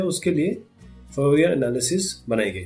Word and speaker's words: Fourier: Heat है, उसके लिए फोरियर एनालिसिस बनाई गई थी। मेन आइडिया ये है इसका। फोरियर क्या, फोरियर बोलूंगा मैं, वैसे इसको फोरिया बोलते हैं। इसका जो प्रोनाउंसिएशन है फोरिया है।